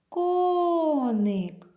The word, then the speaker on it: коник: давайте прикличемо слово коник коник у слові коник два склади коник наголос припадає на перший склад ставимо рисочку Ось так